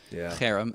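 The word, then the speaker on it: חרם: So that's, if you want to get get the guttural Harem accent on the first syllable.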